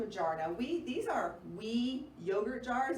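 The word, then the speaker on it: Oui: Now these are WE yogurt jars. It's spelled O-U-I, they're glass.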